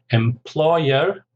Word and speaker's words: employer: So we've got early retirement, promoted, it's 3 syllables, stress on the second, promoted, employer, 3 syllables, stress on the second, sacked.